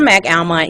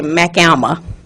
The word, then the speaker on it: McAlmont: But if you're from McAlmont, you don't actually pronounce it that way. I guess it's the countryside of us, we just say McAlma.